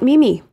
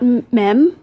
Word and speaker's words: meme: but held it in meme is the correct pronunciation it is not Mimi Mimi it is not me me I've heard me yeah